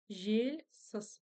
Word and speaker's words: жельсіз: Жельсыз. Палочка с точкой, значит, ударение будет на слоге жель. Жель. И еще нюанс, когда пишется буква «Л» после мягкой согласной, она читается как будто бы с мягким знаком.